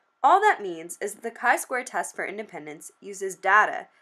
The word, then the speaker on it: chi-square: will be exploring the kai Square test for Independence let's clear something up from the get-go it is pronounced Kai Square not chai this isn't a latte from Starbucks it is a mathematical